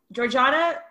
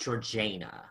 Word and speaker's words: Georgiana: I've heard it pronounced Georgiana. Georgiana. I think we might get to it later, but I think it depends on how posh you are with how you say it.